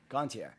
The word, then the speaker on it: Gontier: three days grace right how do you pronounce his last name gone gone teacup Gontier yep French yes Canadian Canadian french-canadian clothes just the way you said it yeah a [ __